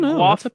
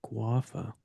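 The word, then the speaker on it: Gwafa: We need guava. We need guava has it. Guava. G W A F A. Oh, guaffa.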